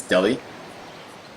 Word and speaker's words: Delhi: that in a second it's not even Delhi it's Deli is there where's the where's the syllable change we are at peace